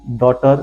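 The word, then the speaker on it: daughter: जीएस पढ़ने ही नहीं है direct नॉटी second डॉटर very famous शब्द डॉटर देख लीजिए यहां पर भी जीएस साइलेंट है दें बरोट ब्रो अगस्त्रोत यहां पर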